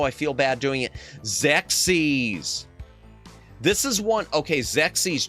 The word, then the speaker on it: Xexyz: I thought you pronounced it the way you spelled it, which is XEXYZ. So, I used to say, uh, I I I want to play XEXYZ.